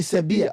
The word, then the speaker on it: Sevilla: Even the way they pronounce, because for example, in Spain, V is pronounced as a B. That is why if you've ever heard me, if you've ever listened to me talk, I never say Sevilla. I say Sevilla.